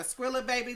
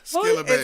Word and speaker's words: Skilla Baby: Is that the fashion thing too, or is that a Skrilla baby thing? I feel like Am I saying it right? Skilla baby.